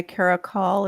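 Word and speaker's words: caracal: Tennessee so oh okay Cara call is how you say it thank you yeah there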